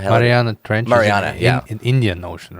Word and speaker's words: Mariana: Um I was I was mispronounc the uh sounds like the Marinara trench like whatever the hell Mariana trench in Indian Ocean, right?